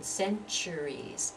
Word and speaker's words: centuries: sound again centuries centuries here the first syllable is stressed centuries centuries and I really almost feel my whole body moving up and putting the force of my voice into that first syllable centuries centuries centuries revolution